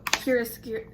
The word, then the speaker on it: chiaroscuro: Oh, chiaroscuro.